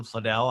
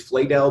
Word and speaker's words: Fadell: mispronounced a bunch uh it's I think my grandparents would have told you it's fedel but fedel is also good enough I've heard much worse